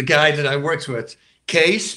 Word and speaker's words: Cees: Case, but the CEES, like spelled in Holland. But we say C-E-S-E, so we will pronounce Case as well.